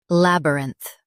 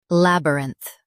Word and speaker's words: labyrinth: Both US and UK have the same pronunciation of this word, labyrinth. Now read the syllables shown on the screen naturally. Lab, rinth, labyrinth.